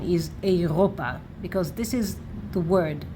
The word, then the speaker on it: אירופה: And actually, when you will see this word, when you know it, and even though there is no dagesh here, you will know that the right pronunciation is Europa, because this is the